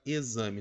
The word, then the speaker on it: exame: olha aqui a palavra exame turma a palavra exame ela apresenta a sua grafia com x perfeito só que o que que você pode observar a melhor forma seria com a letra z sim por o som